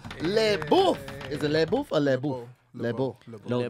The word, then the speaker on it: LeBeau: Is it LeBeau or LeBeau? LeBeau. LeBeau. Don't pronounce the Just forget the F. LeBeau. Is there an F There's in no there? F. There's no F.